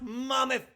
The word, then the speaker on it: Monmouth: And it's pronounced Monmouth.